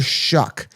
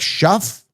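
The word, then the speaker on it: Shough: They call him Tyler Shuck, but the way that it's spelled is nothing like Tyler.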